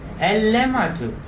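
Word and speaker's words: اللمعة: So prefix al. How should I pronounce this one? Al-lamatu. Tashdid with shadda.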